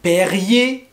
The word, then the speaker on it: Perrier: guerre d'algérie vous avez les bouteilles d'eau comme perrier est rayé donc le perrier ça par contre